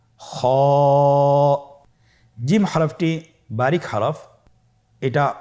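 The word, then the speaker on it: خ: খ হরফটি হলো মোটা হরফ, উচ্চারণের ক্ষেত্রে মোটা হবে। ছবিতে দেখুন খ হরফটি কীভাবে উচ্চারণ করতে হবে। খ হরফটির মাখরাজ হলো কণ্ঠনালীর শেষ ভাগ হতে উচ্চারণ করতে হয়, কণ্ঠনালীর শেষ ভাগ।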